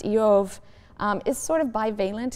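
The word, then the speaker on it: איוב: The name Job, which in Hebrew is pronounced Yov, um is sort of balent in meaning.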